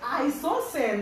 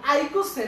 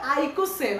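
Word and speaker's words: icosane: এরপরে আমি যদি 20 ইউজ করি, 20 তে একটু প্রবলেম আছে, এটা হচ্ছে আইসোসেন। দেখো আইকোসেন, এটা উচ্চারণ হবে আইকোসেন, আমি অনেক সময় আইসোসেন বলে ফেলি, আইকোসেন।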